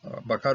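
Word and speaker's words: בָּקָר: So, and pronounced always milra. So if you pronounce it Miel, then you're going into the morning boker, whereas milra, it will be a larger animals, cattle.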